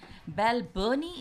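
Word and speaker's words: Balbirnie: ball Sterling that's batting all around her Andy Bell Bernie is the pronunciation of Belle vereeniging well Bell Bernie you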